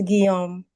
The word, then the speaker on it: Guiam: Guam. Guame. Gualame. Take one more hand. Can you unmute? Hi. Maybe I Hey, what's up? Did I say your name wrong? Um, it's Guiam.